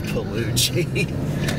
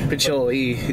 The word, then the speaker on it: Pacioli: Because I first thought it was Pelucci. Pacioli. It does seem strange, but two C's is generally the ch sound for last names.